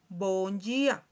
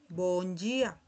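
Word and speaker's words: bom dia: Entonces, aquí se dice, podemos leer día, pero no se lee correctamente en portugués. Ya, si vamos a decir o hemos escuchado eh eh buenos días, ¿verdad? En portugués vamos a escuchar bonia. Boníia, ¿okay? En la pronunciación.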